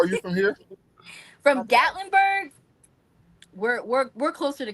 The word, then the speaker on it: Gatlinburg: Still in Tennessee, but it's in how you pronounce it? Gat Gaitlinburg. Gatlinburg. Gatlinburg.